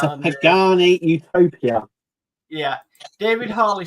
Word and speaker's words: Pagani: Ian's World of Model says it's pronounced Pagani. It's a Pagani utopia.